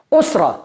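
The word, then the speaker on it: أسرة: Osra. Esta palabra lo dijimos en la última lección. Osra significa familia. Siempre leemos con sílabas. Os ra son dos sílabas.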